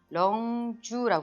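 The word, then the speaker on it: 棱柱: 자, 이 내용은 렁주라고 해서 이게 각기둥이에요.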